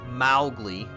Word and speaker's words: Mowgli: He knew Mowgli. Actually, I think in the book, he's pronounced Mowgli.